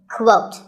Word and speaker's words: quote: is the word quote this is not pronounced the same as coat the correct way to say it is with a kua sound at the beginning quote similarly we have quotation